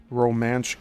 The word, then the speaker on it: Romanche: is narrow, at the Romanche Gap, and that's spelled R-O-M-A-N-C-H-E. Could say it's pronounced Romanche.